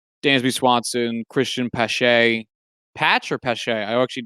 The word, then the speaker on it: Pache: No, it is Pache. All right, I pronounced it right.